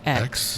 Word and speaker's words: Heaux: But hoe is spelled in the fancy way because we're fancy. So Heaux. Thank you.